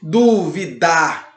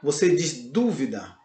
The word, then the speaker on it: dúvida: é acentuada no Ok ou seja dúvida você não disse duvidar você diz dúvida Ok então toda a